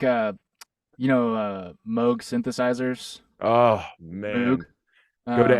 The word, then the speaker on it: Moog: bob mode quote saying Moog like Vogue that's how you pronounce it and then I was like okay I can confidently say Moog now I think I